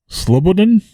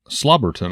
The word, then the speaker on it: Slobodin: Rustam Slobodin, which you said I was pronouncing that one wrong. Slobberton, I believe, is actually the way you pronounce it. Well, that's not the way it's written.